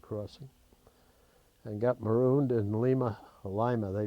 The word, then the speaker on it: Lima: Almost got killed in a railroad crossing, and got marooned in Lima, they pronounce it, Ohio, overnight in a motel, which when you're on your honeymoon isn't the worst event.